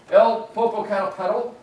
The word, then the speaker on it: Popocatépetl: It's called El Popocatépetl, in my Texan pronunciation of it. But I've had people from Mexico who could really say that word, and it's beautiful. But I can't say it right.